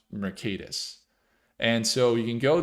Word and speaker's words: Mercatus: It would kind of spell Mercatus. It's pronounced Mercatus.